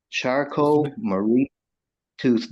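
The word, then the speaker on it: Charcot-Marie-Tooth: Charcot-Marie tooth disease. Spell- It stands for, Spell the Charcot. Could you spell that, please, sir?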